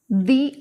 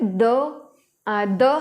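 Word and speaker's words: the: जैसे दी आईसाइट, यहाँ पे हम वावल साउंड लेके जा रहे हैं. इसके पहले अगर टी एच ई ये है तो इसको दी प्रोनाउंस करेंगे, दी आई साइट. अगर द हम कब करेंगे?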